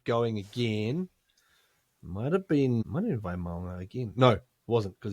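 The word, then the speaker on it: Vaimauga: of iteration of it, because it's Dimitri Vaymaunga is the... well, I don't know if that's 100%, but that's a lot closer than Vaymayunga. Yeah, Vaymaunga.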